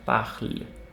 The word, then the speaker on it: parle: पहले एक बात रूल नोट कर लो आप बड़े बड़े अक्षरों में, कि ई साइलेंट होता है लास्ट में, ये तो पता है हमें। Yeah. सो ये हो गया ज, एंड ये हो गया पाखल। ई को भूल ही जाओ, क्योंकि बाकी